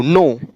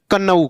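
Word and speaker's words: knee: के एन ओ डब्लू नो ना की कनऊ कनऊ नहीं पढ़ना है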